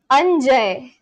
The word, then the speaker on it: Anjay: We've always pronounced a like ah. It never changes. Okay. So Anjay.